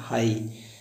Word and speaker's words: high: जब सेंटेंस या शब्द के अंत में जीएच आए या जीएसटी आए तो इसमें जीएस हमेशा साइलेंट होता है। जैसे लिखा होता है हाई, HIGH, हाई का अर्थ होता है ऊंचा।